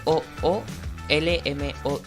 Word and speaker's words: COOLMOD: Col, No o es- sea, COOLMOD.